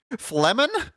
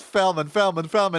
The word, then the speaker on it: Flemen: Since when is it F-L-E? What the heck? Flemen? Have I been saying it wrong this whole time and nobody corrected me? This whole time it's Felman, and nobody ever said anything about it.